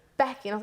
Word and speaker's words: Beaky: would expect something like it's a bit of an unusual spelling but it's pronounced becky but she was just like it's becky and i was like